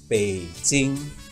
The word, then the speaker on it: Beijing: changed but it hasn't in fact the Mandarin pronunciation of the capital of China is Beijing which is very close to the opinion and